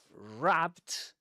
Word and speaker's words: wrapped: In the simple past uh or when functions as a past participle, uh wrapped is pronounced with a t at the end.